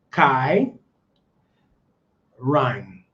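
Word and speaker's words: Cái Răng: Kai Rang, like you say it right here, Rang. Just it's different, but you say it like back here, Rang.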